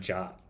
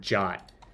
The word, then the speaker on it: JWT: where is it introduction the suggested pronunciation of JWT is the same as the English word jot it infuriates me to